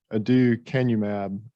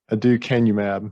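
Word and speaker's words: aducanumab: very expensive medication and again again it's it's pronounced adieu canub is the is the generic so and this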